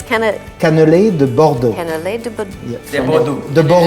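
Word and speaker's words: cannelés de Bordeaux: afternoon for breakfast anytime yeah how do you pronounce it again it's can Canal de bordo Canal de bordo B de bordo the bordo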